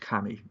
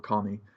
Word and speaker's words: kami: example we often misunderstand the word kami or commie as it's sometimes pronounced we just generally think